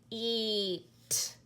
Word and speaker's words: eat: read eat eat but now we have the a that is silent here they do put it in but we don't say because it's really tiny so they would just say eat eat like that okay so